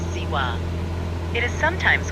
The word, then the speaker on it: Zihua: also known as ziwa by the locals and visitors who pronounce it as siwa it is sometimes called